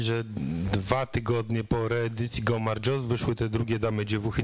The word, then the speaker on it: Gaumardżos: A wspominamy pana żonę, ponieważ jest ona współautorem książki Go Marjos. Jak słyszą Państwo, mam już lepszy akcent, dobrze mówię? Go Marjos. No, dobry. Na ostatnią sylabę wszystko tak się jest, zgadza.